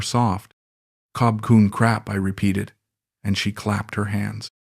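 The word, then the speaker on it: ขอบคุณครับ: "You say cob kun like robot," she said one afternoon, giggling. "Try again, more soft." "Cob kun crap," I repeated, and she clapped her hands.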